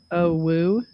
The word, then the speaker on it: UwU: Ooh ooh, it's pronounced owo.